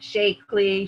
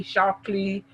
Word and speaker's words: Shaklee: seen that before and normally they pronounce it shakily shockley so you knew she